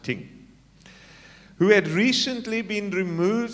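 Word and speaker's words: Tyng: associate of dudley atkins tink t-y-n-g i think you pronounce it ting who had recently been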